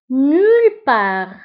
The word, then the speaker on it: nulle part: Nulle part, nulle part, nulle part كتعني ولا في أي مكان. Nulle part, nulle part. فبالنسبة nulle نكتبها بدوز ال و part نكتبها بالت في آخر الكلمة ولكن لا ننطقها.